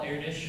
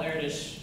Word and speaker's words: Erdős: And one day, Paul Erdős, it's pronounced Erdős, in case everyone thinks I'm really weird for pronouncing it right, and not wrong, like Erdős. It is Erdős.